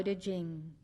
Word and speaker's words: Ching: the Han Dynasty gave it the title da Jing after the two main concepts of the book Dao meaning way it is spelled t a o dur meaning virtue or